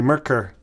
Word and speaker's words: Merkur: that comes from uh if you ask a German to say they're going to say merker merker merker um I if if